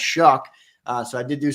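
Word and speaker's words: Shough: He said it is pronounced Shuck.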